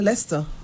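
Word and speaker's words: Leicester: Le how you pronounce it? Leers. Oh, just Lessers. Yeah, Lester. Lester University.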